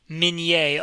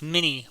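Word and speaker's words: Minié: Minè, often mispronounced mini balls.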